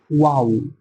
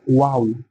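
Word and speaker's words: واو: ওয়াও, উচ্চারণটা এরকম হবে ওয়াও। ঠোঁট দুটোকে একটু গোল করে দিতে হবে ওয়াও।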